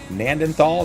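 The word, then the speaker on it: Gnadenthal: You got Gnanthal, Nandenthal, the G is silent, the Canadian map.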